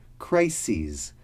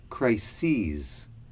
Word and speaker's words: crises: i want you to pay attention to is crises that is the plural of crisis listen to the pronunciation one crisis two or more crises crisis crises the third word is acute that